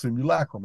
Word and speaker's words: simulacrum: call the smoke room which is properly pronounced simulacrum I just can't I just won't say it I've been doing it too long my way but the truth